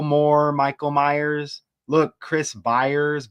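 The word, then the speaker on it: Byers: Look Chris Buyers. Buyers rhymes with Meyers.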